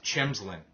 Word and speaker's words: Chimsland: The same as with ch, as in the last name pronounced, just like your failed invented word thing, chim. So it's Chimsland, Oh, Chimsland.